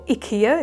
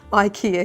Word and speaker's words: IKEA: section at ikea sorry or ikea if you want to pronounce it properly but unfortunately we we pronounce it ikea here would you like my